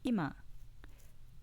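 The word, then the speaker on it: 今: pitch accent compare hashi hashi hashi example 2 ima meaning now with an accent on the first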